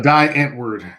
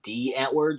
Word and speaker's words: Die Antwoord: concert it was a die Antwoord the South African hip-hop duo I believe it's pronounced D at word so you're lying